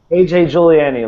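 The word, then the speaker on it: A.J. Juliani: And now we have AJ Giuliani. Am I pronouncing that right? Yeah, AJ Giuliani, like the okay.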